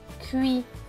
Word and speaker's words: cuisine: S et I, normalement ça devrait se prononcer si. Mais là, regardez bien ce qu'il y a avant le S, il y a le I, et après le S, il y a un I. Le I est une voyelle, donc ce S va se prononcer Z.